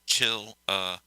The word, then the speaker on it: Chillicothe: Is it Chillicothe? Chillicothe? Chillico, right? No. Chillicothe. Chillicothe. Okay. I'll make sure I get that right. So it's Chillicothe. Okay.